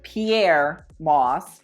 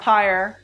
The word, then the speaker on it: Pyer Moss: you guys don't know Pierre Moss pronounced Pierre Moss not Peyer not here Pierre well then you haven't